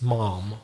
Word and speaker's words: ma'am: Because in the UK, that word ma'am is used, well, it'd be more likely pronounced mom or something like that, but it's reserved for very, very specific situations.